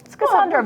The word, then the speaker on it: Schisandra: Schisandra berry. I actually did look all of these up for pronunciation earlier today, but they're a little tricky.